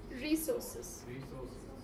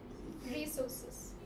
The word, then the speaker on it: resources: The word is resources. Resources. Not resources, it is resources. So where do we put the stress? Above R, right?